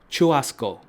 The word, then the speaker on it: churrasco: But according to my research, it just means barbecue, and it's pronounced churrasco. Again, where did H come from?